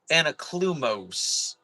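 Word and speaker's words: Anaklusmos: Sorry, and it's pronounced Anaklumoes.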